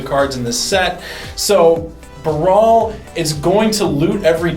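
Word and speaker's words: Baral: Not pronounced barrel, it's Brawl.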